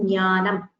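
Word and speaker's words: ज्ञानम्: Yeah, the nya, the SamuktAkshara with j and nya gets the sound nya, as in jnanam. It should actually be, the j sound should actually be heard. That is the correct way of pronouncing it.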